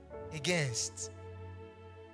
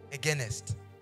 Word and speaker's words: against: But the reason why that was strange to me is because the environment I come from, it is pronounced as against, not againest.